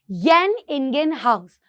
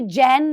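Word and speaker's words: Jan Ingenhousz: Experiment, एंड that is येन इंगेन हाउस। अब इसको कैसे बोलते हो, वैसे ये जैन लग रहा है लेकिन ये येन से प्रोनाउंस होता है, येन इंगेन हाउस।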